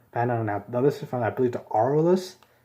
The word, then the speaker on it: Aurelus: Now this is from, I believe, the Aurelus. I believe that's how you pronounce it. Everybody's been pronouncing it. I've been saying this wrong in my Bakugan reviews. But yeah, the Aurelus like faction is currently my favorite.